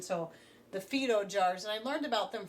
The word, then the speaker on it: Fido: on investing eventually in the Phaedo jars which I believe would be how you pronounce it because they are Italian so the Phaedo jars I learned about